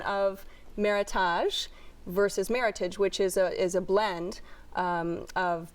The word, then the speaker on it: Meritage: from Washington State, and it's a combination of the words merit and heritage. So it's actually, if you see a Meritage blend on a wine list, it's pronounced Meritage as opposed to Meritage.